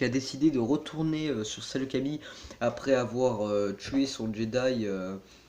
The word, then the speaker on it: Saleucami: Alors cette mock se passe sur la planète Salokami, ou Salokamai, il y en a certains qui le prononcent comme ça.